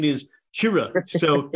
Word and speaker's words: Kyrö: I'm pronouncing it as Kyrö. So, right? Yeah. Kyrö. So, you know, hey, look, I'm from Philly, man. It's Kyrö, right? But Kyrö. And, you know, so we pronounce it as it's written.